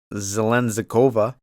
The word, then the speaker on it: Zheleznyakova: We're going with, that's how you say it, Zheleznyakova.